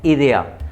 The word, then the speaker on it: idea: आइडिया की spelling same है लेकिन क्या बोलोगे आप, idea, नो tengo idea।